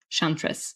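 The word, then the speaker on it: Chantress: L I F E Shantress with C H A T R S like chant. Shantress.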